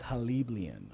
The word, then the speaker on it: Haliblian: And that's about maybe 20 or 30 feet from, how do you pronounce that? Halibrain or whatever? My current information is Haliblian.